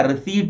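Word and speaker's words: receipt: ऐसे रिसिप्ट नहीं होता, रिसीट होता है।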